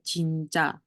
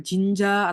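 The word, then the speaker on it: 진짜: tahu pasti jinca nah ini kalau karena apa j-nya doble berarti kan bacanya lebih ke c kan Nah berarti ini bacanya Sebenarnya jinca jinca bukan Jinja atau apai bukan Jinja Tapi bacanya jinca gitu Benarkah terus next ini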